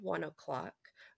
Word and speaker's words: ONE OK ROCK: They are called 1 o'clock, but their name is stylized to say 1 OK Rock in all capital letters, which I think is really quite nice. But I will be calling them 1 o'clock going forward, just because that's how I'm hearing it pronounced.